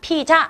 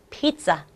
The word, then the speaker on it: pizza: 싸 올해 3 빚자 우리말로는 피자 이렇게 말하지만 똑같은 단어로도 영어로 말할 땐 발음을 조금 다르게 해 줘야 되겠죠 여기서 이 기간 소리가 나니까 피자 아니고 p 싸 p 싸 p 있자 내의